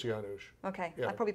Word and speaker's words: Janusz: to ask well with Janice Janice Janusz no I think it's Janos okay I probably pronounced